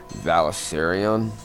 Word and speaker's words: Valyrian: Illyris Mertens has apparently successfully hatched one and has named the he-dragon Valyrian.